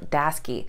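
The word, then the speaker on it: Daseke: on our list today is a company called daski and i know that it does not look like it's pronounced that way based on how it's spelled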